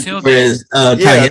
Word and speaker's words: tilde: I think it's called a tilde. Title or tittle or something like that. Tilde. Yeah. It's a T name. I think. A T day, a tilde, what? Tilde. Yeah, something like Matilda. Tilde.